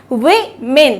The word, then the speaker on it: women: इसकी फोनेटिक्स है विमेन। तो यहाँ पे दोनों जगह आई आ रहा है, बट कहाँ?